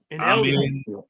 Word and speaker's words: Amen: I'm not going to be surprised if Amin Thompson does it. Amen. Amen. It's amen, bro.